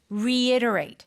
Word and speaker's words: reiterate: i t r a t e yes so reiterate it's kind of a hard word to pronounce for Korean people yeah re iterate reiterate